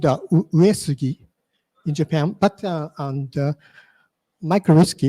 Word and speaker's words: uWSGI: What is the correct pronunciation? One is micro whiskey. Second, uWSGI. Third, mu whiskey.